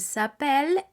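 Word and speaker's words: s'appellent: se llaman sería el sapel e l e s espa s apostrof a p e w l e n t recordemos la terminación e n t la escribiremos pero no la diremos ahora por qué yo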